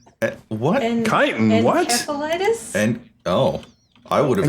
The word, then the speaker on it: encephalitis: Encephalitis? And oh, I would have assumed Encephalitis? I would have assumed the soft C.